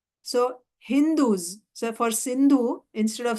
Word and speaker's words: Hindu: These Mohammedans, they pronounce sa as ha. So Hindus.